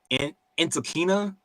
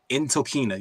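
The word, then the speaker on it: Ntilikina: Victor wanyama and uh I I keep getting this this last name wrong uh in enina uh he he used to play for the Knicks like a while ago Frank in tokina there we go um he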